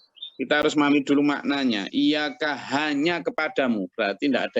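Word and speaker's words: إِيَّاكَ: ini anu ya cara membacanya harus pakai sabdatianya ya jadi iya kah gitu ya jadi nggak boleh nanya Iya Kak gitu nggak boleh ya nanti keliru lagi nah di dalam memahami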